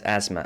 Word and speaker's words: asthma: asthma it's pronounced as asthma like it's as ma a so my little